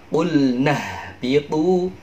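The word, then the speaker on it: اهبطوا: Jadi qulna ihbitu. Nah, jadi tapi dibacanya itu langsung.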